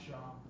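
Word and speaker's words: שם: write Sham in Hebrew pronounce sham it's sham not pass right or old school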